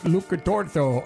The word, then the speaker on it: Lucatuorto: I have one of the producers, Lucatuorto, on the line. Is that how you pronounce it?